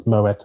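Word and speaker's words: Moët: You do pronounce the T by the way. It's Moetta and Shandon.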